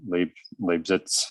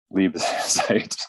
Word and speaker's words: Liebezeit: I know you're on the line, and I have no doubt that I mispronounced your last name, Leibzeit. Those roll over to November. Those candidates will be before the Senate Rules Committee. I think it's November 15th, but Liebezeit. Sorry, thank you though.